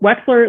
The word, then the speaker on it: Wechsler: Most people call us Wechsler and Wechsler and all these things, but Wechsler, like an X, is correct.